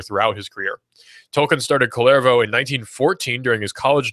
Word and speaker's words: Kullervo: Clairvaux or yeah Kullervo c or k ull ERV oh that's k ull ERV oh I believe it spelled pronounce clairvaux and the work is